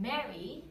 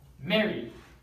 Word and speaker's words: Mary: First one, Mary. Mary. Yes. Mary is this vowel, and it's this vowel is front, low, mid, unrounded vowel.